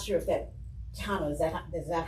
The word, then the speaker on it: Tejanos: with Tejanos, and I'm not sure if that Tejano, is that how you pronounce it? Is that correct? Yeah, Tejanos in particular, and if in connection with making